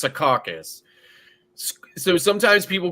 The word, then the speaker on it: Secaucus: But it's kind of like there's a city in New Jersey called Secaucus, right? But sometimes people call it Secaucus, right? But it's pronounced Secaucus.